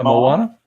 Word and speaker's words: Moana: them of the Disney movie, I'm going to mispronounce this name, Moana? Moana? Yeah, Moana.